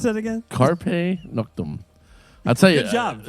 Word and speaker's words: Carpe Noctem: How do you pronounce that again? Carpe Noctem.